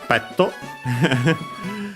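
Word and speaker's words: ペット: one as for people we have petto of course from English pet uh apart from the additional author because the tea can stay on its owner. Uh most consonants can't unlike uh except for the N we have seen. Notice also the doubling of the consonant in Japanese. So be careful. Yeah. Pat uh the accent is the same.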